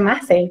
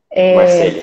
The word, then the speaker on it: Marcele: Então, meu nome é Marcele, a pronúncia é Marcele, tá? Marceli.